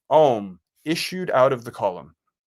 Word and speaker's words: Om: is issuing, the sound Om is issuing directly out of the column. Om is a mystical syllable consisting of 3 sounds, A-U-M.